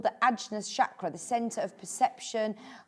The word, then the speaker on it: Ajna: is also called the Ajna chakra, the center of perception, conscientiousness, and intuition. So this is It's brilliant, isn't it? I think it's actually pronounced Agya chakra. I hope I'm getting that right.